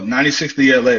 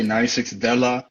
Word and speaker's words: 96thela: where so um well 96bla that's how you say it it's cool because not a lot of people know how to say it um like they say 96 della so 96 that's the year i was born um and la is like my rap name it's called lost adventure so it's 96 the